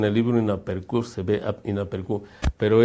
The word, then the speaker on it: inaperçu: Ahí dice en el libro inaperçu, se ve inaperçu, pero esa C con la cedilla, el signito que está abajo, se pronuncia inaperçu. Se pronuncia en efecto inaperçu.